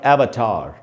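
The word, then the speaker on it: Avatar: कुछ फिल्म्स होती हैं ऐसी जिनमें ज़ैपी विजुअल्स होते हैं, जैसे अवतार जो फिल्म थी, हिंदी में बोलेंगे अवतार, इंग्लिश में उसका उच्चारण होगा एवतार।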